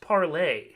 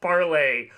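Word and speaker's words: Parler: __ ] ones yeah spell parlor pronounced parlay oh is it really yes it is a reason it's pronounced parlay um so this is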